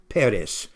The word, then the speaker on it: Peres: And so later on, it has the vowels Peres.